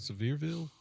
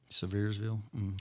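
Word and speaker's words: Sevierville: Uh, I meant to tell you this weekend in just outside of Severeville. Is that how you say it? Severville.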